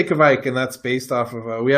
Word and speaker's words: Kveik: Yeah, I'd say Kveik, and that's based off of we have an